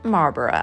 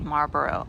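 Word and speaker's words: Marlborough: forgive me for the fact that I was mispronouncing marbar on the day that I filmed this video here is the grave of Consuelo Vanderbilt who was the wife of the ninth Duke of Marboro of course she was the American ays who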